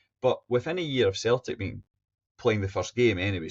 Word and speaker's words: Celtic: This quote is interesting because choosing the name Celtic, really, we should say, rather than Celtic, but over the mist of time, it just became a soft C rather than the hard C.